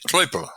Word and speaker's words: Klöppel: In German, they pronounce it Kloppel with an O, with an umlaut over the OE.